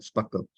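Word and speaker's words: SPARQL: pronounced as s p a r q l Sparkle it's pronounced the system is free the application is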